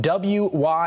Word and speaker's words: Wythe: And although his name is spelled W-Y-T-H-E, it is pronounced Wythe.